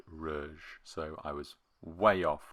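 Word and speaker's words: Reuge: playing incidentally the music box is marked with Rue groig I didn't look up the pronunciation for this we'll go with Rue because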